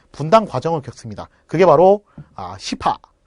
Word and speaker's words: 시파: 그게 바로 시파, 벽파. 발음을 좀 잘하셔야 돼요. 시파, 벽파. 그죠?